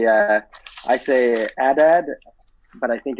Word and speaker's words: Adad: The Hebrew name, but I say Adad, but I think it's more Adad or Adad.